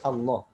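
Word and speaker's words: الله: Allah kita bacanya jangan Allah, ya, jangan ngomongnya Allah, ya. Kalau Allah itu lamnya lam tipis, lam tarqiq, dan itu tidak dibenarkan. Jadi yang ngomong Allah. Kalau secara penulisan ya boleh. Tulisan jangan Allah, itu mengikuti kaidah transliterasi, itu beda lagi. Tapi secara pengucapan kita tidak boleh mengucapin Allah.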